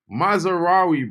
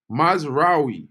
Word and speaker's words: Mazraoui: How do I pronounce Mazraoui, by the way? Mazraoui, bro. Mazraoui.